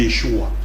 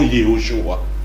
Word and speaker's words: Yeshua: dire Yoshua alors que le nom de Jésus c'est Yeshua et non Yoshua en hébreu donc et là ne